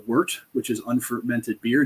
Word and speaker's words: wort: liquid that we call Wort which is unfermented beer w-o-r-t pronounced with an e-w-e-r-t so it worked we'd